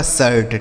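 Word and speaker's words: shirt: से ट हो गया, यह लिखा गया आपका शर्ट। ठीक है। डी आई आर टी, डी से हो गया ड, इस आई का उच्चारण ए हो गया, आर से र और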